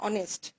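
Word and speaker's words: honest: যেমন এখানে আমি যদি বলি অনেস্ট, অনেস্ট একটি অ্যাডজেক্টিভ, এরপর একটি ম্যান দিলাম নাউন, অ্যাডজেক্টিভের পরে সাধারণত নাউন বসে। অনেস্ট উচ্চারণটা হচ্ছে অ এর মতো, অনেস্ট, তখন কিন্তু এখানে হবে এন।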